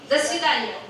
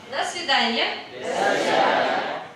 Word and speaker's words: до свидания: До свидания. До свидания.